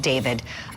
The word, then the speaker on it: D4VD: Even though he spells it weird as an artist, D4VD, he pronounces it David.